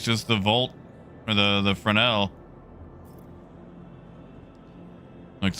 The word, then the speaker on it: Fresnel: So yeah, looks like it's just the Fresnel. Shame. Shame. That is how you say it, right? Like the S is silent.